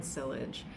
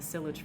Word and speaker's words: silage: I was pronouncing it silage, but I've been watching Avonlea like a maniac, and that takes place on a farm, and I heard them actually say the word silage, and I was like, "Ah! I know that word!" And now I know how to pronounce it.